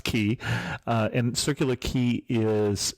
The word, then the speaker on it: Quay: started Us in circular key and for those of people who don't know we're spelling key Quay yeah but it's pronounced key uh and circular key